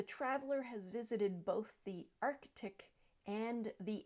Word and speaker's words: Arctic: similar first up and many people will say Arctic Arctic but with that the C is missing at the end of the first syllable and it should be Arctic Arctic next word is